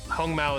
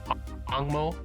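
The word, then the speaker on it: 紅毛: Hong Mao is obviously the Mandarin pronunciation, but the the Taiwanese or the Hokkien pronunciation is Angmo, and this is the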